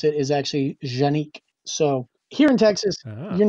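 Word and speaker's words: Canik: using genex they're actually a lot of people pronounce it connect or Kanak but I actually talked to boar angel who is actually from Turkey and he told me the proper way to pronounce it is actually genique so here in Texas you're not gonna convince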